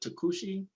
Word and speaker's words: Tokuchi: sad so my boy shows up uh but takushi is how you pronounce it takushikushi and that like according